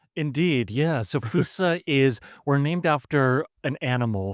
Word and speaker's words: Foossa: And actually, Lushan, do you want to tell some of the story of how we alighted on the correctly pronounced Fusa? Indeed, yeah. So Foossa we're named after an animal from Madagascar.